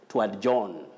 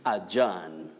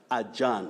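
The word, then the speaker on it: adjourn: sessions and all that you may hear of john and john a very common mispronunciation that is not the way to go you say ajahn adjan when you look at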